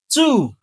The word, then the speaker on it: two: The W is silent. Please do not pronounce the W. Ok. Preposition même pronunciation. Let's go. Do not say no correct. That's two.